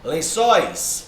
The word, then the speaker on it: lençóis: Ó, lençóis. Ó, separei. Tá vendo, ó? Não é paroxítona. Não é o len, que é a sílaba mais forte. É o sóis.